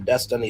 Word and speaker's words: Dystany: Um Destiny Spurlock has always been a trailblazer from playing football with boys at Highland Springs to race motorcycles right out of school. Spurlock whose first name is pronounced destiny.